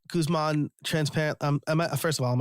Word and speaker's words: Guzman: Guzman, transparent.